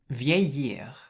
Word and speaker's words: vieillir: So if you look at the infinitive, it's pronounced vieillir, vieillir. And so you have V, which is the VI. The EI is pronounced A, so that's vieille. And then the double L is pronounced like a Y in French. And then you have the IR, so it's vieillir.